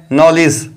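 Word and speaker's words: knowledge: का एग्जांपल है नॉलेज नॉलेज की शुरुआत भी कम से हुई है और एन से पहले के आया है जो की साइलेंट होता है इसीलिए हमने नॉलेज वर्ल्ड में भी केक को नहीं पढ़ते हैं इसको साइलेंट रखते हैं इसीलिए हमने इस वर्ल्ड को पढ़ा है नॉलेज अब हमारे पास चौथा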